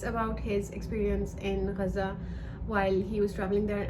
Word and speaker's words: Gaza: I used to say Gaza before, but as I engage with Palestinian events and I go to these protests, like, everybody is pronouncing it as it's supposed to be pronounced in Arabic, and because Arabic dialect